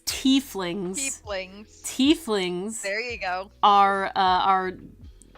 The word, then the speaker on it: tieflings: I mean, tieflings. Wait, we had this conversation. It's tieflings.